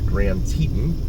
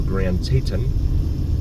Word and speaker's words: Grand Teton: That's going to bring us up here to Grand Teton or Grand Teton. I've heard it pronounced both ways in this town.